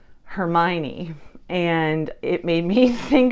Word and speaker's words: Hermione: my 20s, and the way I was saying Hermione's name in my head was Hermione.